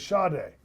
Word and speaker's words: Sade: Which rhymes with Sade.